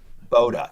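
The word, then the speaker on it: Bode: saying that right uh i always say it wrong i think it's but is it boda boda thank you yeah i i think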